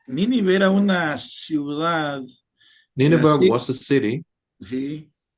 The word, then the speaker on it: Nineveh: Nineveh. Repeat? Nineveh. Nineveh. Yeah. So he went to preach to Nineveh. y Nínive era una ciudad, Nineveh sí, was a city, sí, y los asirios eran un pueblo guerrero y cruel.